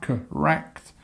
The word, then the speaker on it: correct: so correct is this we have the correct uh with the stress on the second part of the word um let me correct